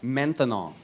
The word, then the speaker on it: maintenant: That's right, maintenant. Maintenant. 3 syllables, that's a long word for now.